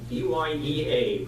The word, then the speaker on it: Dyea: That wasn't a real big deal then, but Skagway and a town called Dyea, D-Y-E-A, pronounced Dyea, those were the heads, the trailheads, the two alternate trails that proceeded to the mining area.